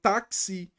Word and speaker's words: táxi: sete letras sete fonemas táxi Opa difono apareceu KS então tenho quatro letras e cinco fonemas Ok próximo a você